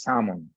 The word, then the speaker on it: salmon: To my mind, I don't like the description of salmon, me myself, because salmon, or actually the right pronunciation is salmon.